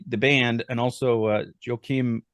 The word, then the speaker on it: Joachim: band and also uh Joachim Rudolph is that how you say his name I'm sorry if I butchered that yeah you are Kim yes yes so yokim Rudolph also mixed and mastered